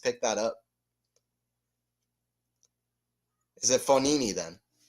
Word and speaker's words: Fognini: And then you know the G in Fonini is silent, right?